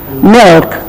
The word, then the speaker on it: milk: by K milk health it is a dark l so what is this dark variety it is milk the tongue goes and touches the middle of the pallette the sound is slightly different that's called the dark L help milk health but